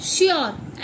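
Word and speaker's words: sure: हम इसे पढ़ेंगे प्योर ऐसे ही same श्योर एस यू आर ई और ई का ई लास्ट में है तो फिर ई साइलेंट वॉइस निकालता है।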